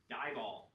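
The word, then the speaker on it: DIBAL: We're looking at reduction with dieall. pronounced like eyeball said.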